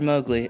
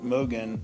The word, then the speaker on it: Mogan: Mowgli, Fortnite or PUBG? Once again, it's Mr. Mogan, and I'd say Pub Night.